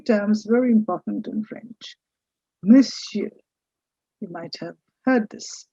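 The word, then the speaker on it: monsieur: nagri script which says miss you the stress is on the first part of m you say miss you miss you and that means mister or Sir when you say Mr.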